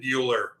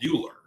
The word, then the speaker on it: Buehler: like that and then bueller i mean yeah it's not built like ferris bueller but it's pronounced the same way but the funny thing